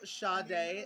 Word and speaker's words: Sade: How come Sade is spelled S-A-D-E?